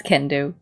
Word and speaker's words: Kendo: Kendo oh that's funny it's spelled you know like can and doe but it's Kendo it's a good one